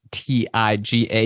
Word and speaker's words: Tyga: that's really Tyga Investments, which is a funny name because of the rapper Tyga, but it's pronounced TIGA Investments, and that's the SPAC person